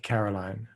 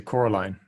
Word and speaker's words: Coraline: Well, I just think if you think about some of his more popular works, like Caroline, or how do you say Coraline, I think is correct, right?